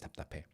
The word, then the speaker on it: 답답: ventilated well, everything is 답답해. Somebody doesn't express their emotions clearly, 답답해. Everything's just 답답해. 답답. Even the pronunciation is 답답 because you're not like linking it to the next vowel or anything.